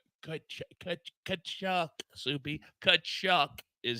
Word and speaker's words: Tkachuk: Somewhere Soupy is still pronouncing in the mirror that name and trying to get it right. Kachuk, Soupy. Kachuk is how it's done.